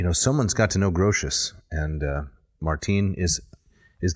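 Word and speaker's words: Grotius: with it yeah so grotes are grosius I think is uh how it's often pronounced it was a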